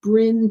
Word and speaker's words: Brynne: get brining br how do you pronounce your name and it's bryn so i learned from a